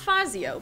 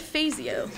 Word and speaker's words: Fazio: Not Fazio, but Fazio. From the Carondelet neighborhood. But it's spelled like Fazio.